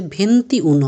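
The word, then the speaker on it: ventuno: এখানে একটু ভুল আছে, ভেন্তি উনো হবে। উনো মানে 1, ভেন্তি মানে 20।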